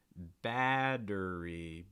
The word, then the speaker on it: battery: about this word um battery battery battery so not battery you're more likely to hear battery another note here you